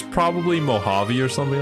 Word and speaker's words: Mojave: French oh man the Spanish J which is pronounced H oh my God it is I I spent the entire stream calling it the mojabi desert nobody thought to